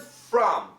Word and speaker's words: from: The word from, perfect pronunciation, sounds like a U, a short U, from.